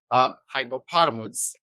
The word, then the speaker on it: Hypepotamus: Oh my God, so bad at pronunciation, but very happy to have you here, editor in chief of Hypepotamus. Hypepotamus.